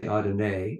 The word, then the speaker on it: Adonai: Yes, I'm familiar with the Hebrew pronunciation of Adonai. The reason I say Adonai is because that's what Ra says.